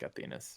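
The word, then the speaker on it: Athenas: athena's yeah yeah it's it's like athena with an s but i think they say it's they pronounce it like athenus yeah so um so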